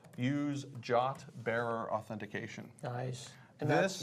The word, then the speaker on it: JWT: And are you pronouncing that jot like J O T?